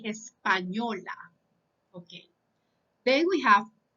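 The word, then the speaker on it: español: you find it okay you say espanol so you pronounce this letter as this espanol can be the language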